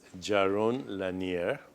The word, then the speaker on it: Jaron Lanier: of course and my guest right now is Jaron Lanier did I pronounce your name correctly that was a beautiful